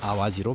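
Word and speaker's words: 淡路: 그래서 담를 아와지라고 읽어야 된다. 앞으로는 아와지로 발음을 해라라고 하는 거예요.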